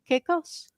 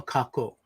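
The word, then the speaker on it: kākou: Junmi said aloha keikos. Is that what you said? Aloha kako. Kako.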